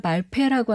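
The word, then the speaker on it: Balfe: 발페라고 하는 이 작곡 아일랜드 출신의 윌리엄 발페라고 하는 작곡가가 있는데요. 발페. 네네. 피읍에다 어이 발음. 네, 어느 페. F입니다. 발페. F.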